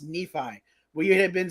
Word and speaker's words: Nephi: apologize for pronouncing is it nephi or nephi nephi it's nephi yeah sorry i butchered that name all the time look i'll